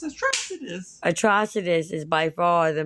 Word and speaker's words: Atrocitus: You still don't know how to fucking pronounce his name. When they say his name, it's Atrocitus.